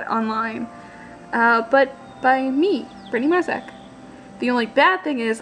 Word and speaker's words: Marczak: my name correctly, so I guess you better learn. M-A-R-C-Z-A-K, pronounced Marzak. Not that difficult.